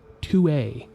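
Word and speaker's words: tuée: However, in the sentence, Omar Matua, that verb should have been conjugated to tue, spelled T-U-E-E. While these 2 different verb forms are pronounced exactly the same, the difference is pretty notable.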